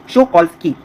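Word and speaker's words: Shokalskiy: अब इसका प्रोनाउंसिएशन थोड़ा ध्यान से समझिए, जैसे एकेडमिक बोलते हैं ना उसी तरीके से यहाँ पे के है तो इसको बोलेंगे एकेडमिक शोकॉल्स्की।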